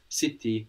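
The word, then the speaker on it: città: have two T's and we know that c e and c I give us the CH sound so City c i t a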